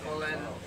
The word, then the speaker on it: Cullen: We were doing this before we actually came on the set, and I was like, well, how do you pronounce Cullen. Your last name? Cullen. Cullen.